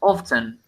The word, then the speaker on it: often: that case for instance sometimes the word often you can you can't pronounce it as often it's actually correct yes but they usually and say often so probably listen uh it